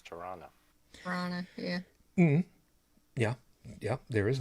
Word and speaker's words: Toronto: Like, in Canada, Toronto is not Toronto, it's Tirana.